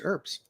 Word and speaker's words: herb: healing she just use herbs so just kind of interesting note there herbs are herbs herbs herbs herb herb H is silent it's like what you